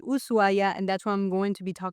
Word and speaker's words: Ushuaia: without the husu because in Spanish technically we don't pronounce the h when it comes after an s.